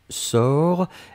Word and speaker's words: sors: du présent c'est je sors s o r s on ne prononce pas le s p on doit quand